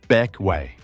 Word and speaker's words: Bequia: From Saba we head south into the Grenadines, to Bequia. Pronounced Beck-way.